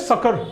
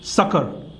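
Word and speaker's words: succour: Next देखो, ठीक है, नेक्स्ट होता है, इसको प्रोनाउंस कैसे करते हैं, सकर। इसको प्रोनाउंस कैसे करेंगे, सकर।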